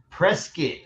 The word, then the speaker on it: Prescott: So pronounce it for me. Is it Prescott or Prescott? Prescott.